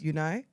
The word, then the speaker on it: Unai: Aston Villa with one game in hand on unai emry side did I say his name right yes unai yes are you sure yes for Chelsea they